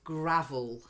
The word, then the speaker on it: gravel: And then the next one, although we have a grave, which was a long A sound, you're buried in a grave, the little stones that you find sometimes on people's driveways and on beaches is gravel.